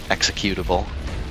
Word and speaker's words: executable: with your pronunciation of executable. Executable. Ah. It's like executive decision.